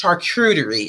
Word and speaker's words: charcuterie: Yes, charcuterie.